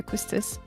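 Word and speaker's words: Quistis: Aquesties, how you say her name? Oh yeah. Quistice.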